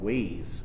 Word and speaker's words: Waze: a look at a social driving application called ways it's spelled w a z uh ways was shown